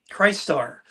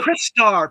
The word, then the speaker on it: Crystar: Now, the thing Oh, with Christ Star, no, it's so Crystar. People always pronounce that wrong. It's Christ Star, Chris Crystar. Star, The potato, Crystal whatever. Warrior, Crystal Warrior, Crystar. Chris Star, Christ Star, just depends on what side of the Mississippi you're on.